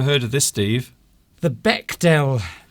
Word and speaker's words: Bechdel: The Bechdel Is it Bechdel test or Bechdel test? It's the Bechdel test. Not Bechdel test. No, the D is silent.